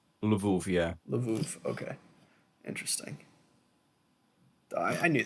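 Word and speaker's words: Lwów: spelled with double use but it it's still pronounced as a v oh so it's love yeah okay interesting i knew that i'm sorry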